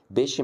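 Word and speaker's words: pesce: نكتبها عندك في المذكره الثلاث حروف دول لما بتلاقيهم على بعض كده تنطقوا شي ش بص هنا نطقتها قلت ايه قلت ب شي ب شي اللي هي طبعا معناها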